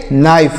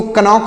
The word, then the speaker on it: know: KNOW, इसे पढ़ेंगे नो। इसको कोनो नहीं पढ़ना है, नो पढ़ना है।